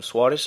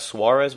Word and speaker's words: Soares: of tournament Everton um Soares I think his name is not Suarez well you know the Portuguese pronunciation ever since Wallisch or